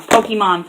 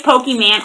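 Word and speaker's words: Pokémon: around Pokemon I know I said it wrong Pokemon fans I used to say pokey man all the time to drive my nutty nuts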